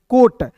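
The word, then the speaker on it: coat: अब देखिए याद रखिएगा कि जब आपको दो भवेल एक साथ रहते हैं दोस्तों तो एक भवेल को आप काट दीजिएगा। तो यहां पे एक मतलब यहां पे कैंसिल हो गया। तो यहां पे ओ है तो इसका उच्चारण ओ के रूप में होगा। तो सी ओ ए टी को क्या पढ़ेंगे? कोट पढ़ लेंगे।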